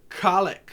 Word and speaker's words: Cailleach: this day to uh kalitch or colic or caliec or calic she's got a lot of pronunciations of her name the modern day i think pronunciation if i'm correct is kalitch and so kaylich is